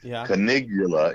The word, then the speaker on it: Canigula: white and the emperor whose name is conigula that's spelled c a n as in nancy i g u l a canigula is the emperor and let's make this now